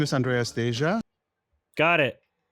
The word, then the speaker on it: Andreas Deja: My name is Andreas Deja. Got it.